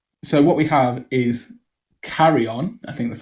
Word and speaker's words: Carrion: about yeah um so what we have is carry on i think that's how you pronounce it yes carry on i feel like we should explain a little